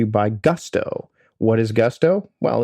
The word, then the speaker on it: Gusto: What is Gusto? Well, it rhymes with must or Rusto in let's do it